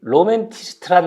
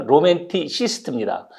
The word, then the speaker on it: 로맨티시스트: 그게 뭐 우리말로화돼 있는데 사실 여러분 로맨티스트란 말 사전에 없습니다. 미국 사람 안 씁니다. 로맨티스트라면 못 알아들어요. 그 로맨스라든가 센티멘탈리스트 이런 거는 그 형용사형에다 IST 붙이는 거죠. 로맨티시스트입니다.